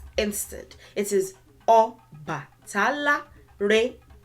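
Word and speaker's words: Ọbàtálá: This word is pronounced Oba Tala, Oba Tala, Oba Tala, Oba Tala.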